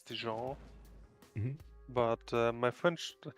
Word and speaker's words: Dijon: I'm actually pretty sure it's a soft J, so it's Dijon.